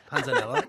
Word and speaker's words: panzanella: Panzanella, the Italian bread you and got that tomato. right. Oh, Yeah. wait, say that again. Panzanella?